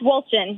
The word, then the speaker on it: Wolchin: Lucas Wolchin, is that right? It's Wolchin, yes. Wolchin, okay. Okay, well, there you go. Almost like Walchuk.